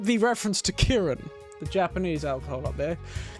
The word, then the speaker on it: Kirin: I like the reference to Kirin, the Japanese alcohol up there. Kirin. Kirin. Not kiddin. It's kirin. One more syllable.